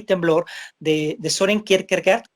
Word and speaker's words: Kierkegaard: y temblor de sören kierkegaard que según entiendo se pronuncia a cargo pero bueno pues decimos